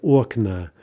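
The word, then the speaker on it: окна: Aknoa becomes okna.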